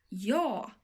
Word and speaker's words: ja: And this word in Swedish is pronounced like this. Ja, ja.